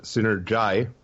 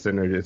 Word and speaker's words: Synergi: So the album, which is actually pronounced Synergi. Oh, sorry. Has no problem. Everybody thinks it's Synergy.